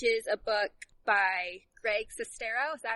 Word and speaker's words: Sestero: Okay, so it's from the co-author of the book, The Disaster Artist, which is a book by Greg Sestero. Is that how you pronounce it?